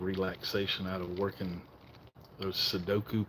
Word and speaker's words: Sudoku: I get a fair amount of relaxation out of working those Sudoku puzzles, Suduko. I always say it wrong.